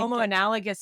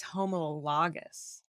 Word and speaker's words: homologous: call it analogous but I do think homo analgous is what I want to say but it's homologous no I recently was trying